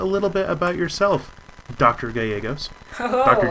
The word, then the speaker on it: Gallegos: You did a fantastic job pronouncing my name, too, with the double Spanish L's. I'm very proud of you. Yes, got to nail the A-yay.